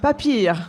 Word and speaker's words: Papier: Vous êtes vous incarnez la société Atling Papier je prononce bien ou papier vraiment mais papir en avec l'ent l'accent germanique.